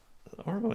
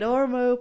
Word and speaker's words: Ormeau: Ormeau, yeah.